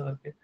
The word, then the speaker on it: coup: इस वर्ड का प्रोनाउंसिएशन ये एक्चुअली ना, ये शॉर्ट फॉर्म होता है कू डिटा, वर्ड होता है कू डिटा, फ्रेंच वर्ड है, तो इसको ना पढ़ते हैं कू, है CU कू, ऐसा पढ़ते हैं।